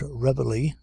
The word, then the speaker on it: reveille: As nobody pronounces this word à la française, as everybody calls it reveille, why not drop it